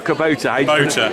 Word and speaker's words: Kubota: Is it Kubota or Kubota? Kubota. I pronounced it wrong, my kids kill me.